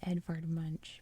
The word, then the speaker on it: Edvard Munch: everyone knows um so the artist i believe is pronounced edvard moosh i've always said edvard munch but i mean dialects